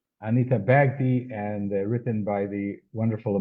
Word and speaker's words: Bagdi: The the pronunciation of the illustrator is Anita Bagghdi. Anita Bagghdi.